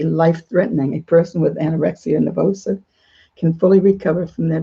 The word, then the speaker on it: nervosa: called anorexia and nervosa i don't know how to pronounce that last word it is nervosa i'm going to read